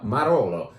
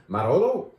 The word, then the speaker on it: Marolo: Mila from a producer called, I'm still getting these names down, Marolo. Marolo? Wow, that rhymes with Barolo.